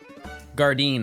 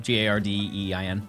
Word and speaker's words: Gardein: Gardein, I believe is how you pronounce it. Gardein.